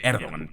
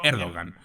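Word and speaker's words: Erdoğan: recep tayb erdogan Sí en Turco se dice erdogan pero así en español para que nos entendamos vamos a pronunciarlo erdogan veréis a mí me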